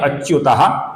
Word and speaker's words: अच्युतः: अब यहां पर गौर से देखिए, पहला नाम है अच्युतः। इसका जो विसर्ग है इसके आगे प आने के कारण विसर्ग का हल्का सा फ हुआ है।